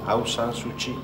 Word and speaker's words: Aung San Suu Kyi: Aung San Suu Kyi?